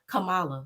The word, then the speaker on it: Kamala: we're gonna go back to Kamala and how Camala Lord I keep black aying it you said